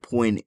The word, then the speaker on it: point: The phrase point final means full stop or period, but the word point is pronounced the same as poing, fist.